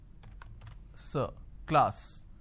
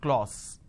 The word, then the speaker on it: class: sound r another example the word is class and the pronunciation is class this is how the pronunciation is but people make a mistake they say or sir instead of saying class they end up pronouncing this as clause okay now why does